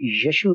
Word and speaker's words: यशु: है, यशु से, और यशु और यसु की प्रोनाउंसिएशन में थोड़ा सा फर्क है। उसकी वजह यह है कि यशु जो प्रोनाउंसिएशन है वो इब्रानी रूट से है, इब्रानी प्रोनाउंसिएशन है। हमने जब इब्रानी तलफ़्फ़ुज़ को उर्दू में अदा करने की कोशिश की तो हमने उसको यसु कहा, जिसका मतलब निजात दहिंदा है।